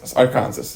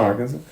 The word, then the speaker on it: Arkansas: No, they told me it's pron it's pronounced Arans. Aransas. It's not Arkansas.